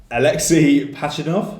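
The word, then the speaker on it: Alexey Pajitnov: Alexei Pachinov? Yeah, that's pretty much it. Yeah? Okay, easy. So... Why don't you write phonetically?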